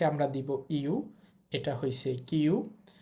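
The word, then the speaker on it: キュ: তো যাই হোক, কি এর সাথে ইয়া উচ্চারণ হবে কিয়া। এরপর দেখেন, কি এর সাথে আমরা দিব ইউ, এটা হয়েছে কিউ।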